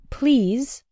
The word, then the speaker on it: please: The words please and the past participle or adjective pleased have the E sound, the same as in the words see, read, and keep. Please. Pleased.